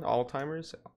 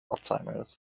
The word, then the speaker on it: Alzheimer's: either alts either yeah like you you pronounce the z but it just doesn't fit right all right there we go pronunciation all the time oh my god oh my god like this guys was weird how's it spelled a-l-z-a-l-z-h-i-i-m-e-r so there's no there's not even a t in it alzheimer's yeah wait yeah